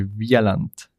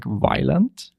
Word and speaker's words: Wieland: Well, in Swiss German, I say Wieland. Oh, really? But it changes in every language a little bit. Okay. And in English, usually people, how they pronounce it? They would say Wieland. Really? Or Wieland, yeah.